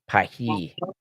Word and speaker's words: Paris: It's not pronounced Paris, it's pronounced Pahi.